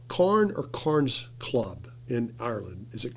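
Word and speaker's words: Carne: Is it pronounced Carn or Carns Club in Ireland? Is it Carn or Carns?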